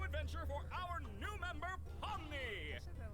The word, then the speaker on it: Pomni: Omni? No, Pomni.